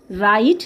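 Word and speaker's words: wrong: ডাব্লিউ আর ও এন জি, রং, ডাব্লিউ কিন্তু এখানে silent.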